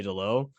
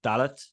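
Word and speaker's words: Dalot: So I think they pronounce the T in Delo. So I would say Delo, but I think it's like Dalit.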